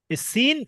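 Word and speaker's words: س: একই রকম উচ্চারণ করি দুটো একই রকম উচ্চারণ হবে না ভাই দুটোর উচ্চারণে পার্থক্য আছে একটা হচ্ছে সিন পাতলা করে সাউন্ড হবে দন্তস থেকে উচ্চারণ হবে সিন প্রথমটা যেমন সিন কেমন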